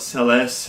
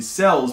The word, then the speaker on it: Celes: I know that you guys want to call it Celeste, and it probably. Because that's how It's it's spelled? it's spelled, and that's how you say it. No. We no. even looked up the Japanese for it, remember? I do remember this, but she will always be Cells Why?